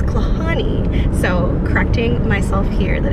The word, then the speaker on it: Klahhane: did also let us know that it's not pronounced claw heinie or claw Haney it's Connie so correcting myself here that it's Connie Ridge and that's what we hiked yesterday I